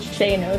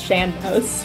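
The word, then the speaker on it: sean-nós: lot from what's called I always call it shanos singing apparently that's not how it's pronounced apparently it's shambos which I learned for the first time like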